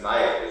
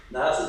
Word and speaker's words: Niall: this very reaction, Niall, am I pronouncing your name right? I apologize. Niall, is it? Yeah, Niall.